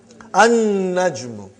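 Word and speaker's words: النَّجْمُ: An-najmu. You did not pronounce lam because noon is a shamsi, sun letter.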